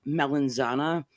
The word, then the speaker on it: melanzana: just dark skinned uh like the Italian American way to pronounce it is like guess Mulan if if if you look at it like an actual Italian the word they're trying to say is like melanzana it means eggplant oh yeah that's what